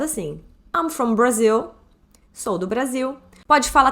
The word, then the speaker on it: Brazil: Brazil I'm from Brazil Brazil em inglês é pronunciado assim I'm from Brazil sou do Brasil pode falar também onde você